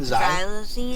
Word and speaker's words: Xylazine: From the how do you pronounce it again? Xxylazine. Xxylazine, okay.